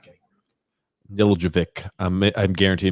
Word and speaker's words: Nedeljkovic: Nedeljkovic. I'm guaranteed I mispronounced it, but we're getting super comments here. Nedeljkovic. Nedeljkovic.